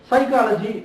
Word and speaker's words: psychology: but it is silent psychology p is silent so one must memorize